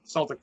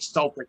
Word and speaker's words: Celtic: I like the Incomplete too, but that Celtic Cross, man. And yes, I'm saying Celtic, not Celtic.